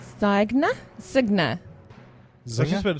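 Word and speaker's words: Zynga: I always went with Zinger Zinger yeah that sounds easier Zig isn't zy GNA yeah Z GNA zna yeah but g n is n z silent g z zner z they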